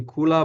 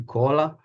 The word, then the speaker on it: Koola: ignas Kola U uh my patient calls me Kola but it's real pronounced the cola you know I'm used